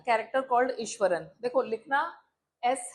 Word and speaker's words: Iswaran: उसी तरह से इसको भी हम क्या प्रोनाउंस करेंगे? ईश्वरन।